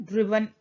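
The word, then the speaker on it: driven: Perfect बोलते ही मैंने बताया था आपको थर्ड फॉर्म आएगा ड्राइव, ड्रोव, ड्रिवन, ठीक है, ड्रिवन इज the correct pronunciation of इट।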